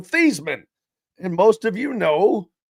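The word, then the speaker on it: Theismann: he knows about Joe Thyman. Joe Feesman. I guess I should say his name is actually Joe Theman.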